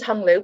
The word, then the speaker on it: Hung Lu: sitting in so um my name's hung lu pronounced like hong kong uh i am a